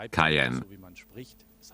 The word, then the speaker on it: Cayenne: properly, you realize it's Cayenne. So wie man spricht, es heißt Cayenne. Say it how it's written.